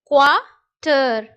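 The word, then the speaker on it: quarter: இங்க குவார்ட்டர்னு படிக்கக்கூடாது. ஆருக்கு வந்து பாத்தீங்கன்னா நம்ம தமிழ்ல இருன்ற உச்சரிப்பு கொடுப்போம் இல்லையா? ஸோ அந்த இருன்ற உச்சரிப்பு மாதிரி இங்கிலீஷ்ல இருக்கக்கூடிய ஆருக்கு நீங்க அழுத்தி படிக்க கூடாது, அதை சாஃப்டா படிக்கணும். இழ், இழ் அப்படின்னு படிக்கணும். அப்போ குவார்ட்டர், குவார்ட்டர்.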